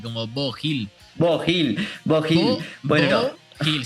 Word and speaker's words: Beau Hill: Y algo que no es menor, ¿cómo se pronuncia? Beau Hill. Bo Hill, así será. Bueno, creo el que productor, sí, Bo Hill, ¿no?